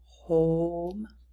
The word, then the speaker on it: home: Home has the long O sound with the magic or silent E.